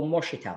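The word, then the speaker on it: Moersleutel: You have to do it in the Dutch accent, you know. You have to the Dutch accent. You have to go Morsetal.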